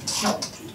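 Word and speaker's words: 跳珠: 来用的，所以读的时候读成第二声的瓦条珠、跳珠，它有跳动的水珠。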